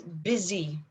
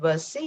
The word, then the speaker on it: busy: would like to highlight the word is busy so instead of buzz c you say busy uh i'm pretty sure there's this word earlier in the conversation right and it was supposed to be pronounced busy so busy that's it that's the